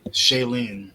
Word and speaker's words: Shailene: you say her name ninja what shaylene woodley shailene there you go it would have been um